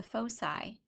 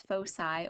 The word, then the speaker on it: foci: are known as the foci the singular word is focus and the plural word is foci or foci it doesn't matter how you say it and so we have